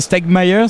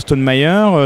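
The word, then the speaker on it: Stonemaier: y a site alors je le prononce à la française parce que c'est un petit peu compliqué à prononcer à l'anglais c'est c'est quoi c'est c'est St meer c'est ça le l'édition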